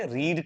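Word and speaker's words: read: रहा है यहां पे रीड करने का रीड का थर्ड फॉर्म क्या होता है रीड का स्पेलिंग तो सेम है बट उसको बोलते हैं रेड है तो अ बुक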